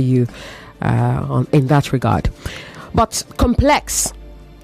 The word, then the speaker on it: complex: But complex, the word complex has two pronunciations. As an adjective, it is complex. As a noun, it is complex. This is a complex. Okay? But the issue can be complex. Do you understand? As an adjective, you say complex. As a noun, you say complex. Therefore, you meant to say complex issues and not complex issues.